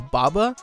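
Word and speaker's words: Bobba: So the product is called boba, but it's spelled B-O-B-B-A, so boba.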